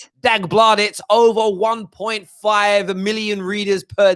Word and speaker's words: Dagbladet: And then Norwegian outlet, this is how you pronounce their name. Dagbladet, over 1.5 million readers per day have claimed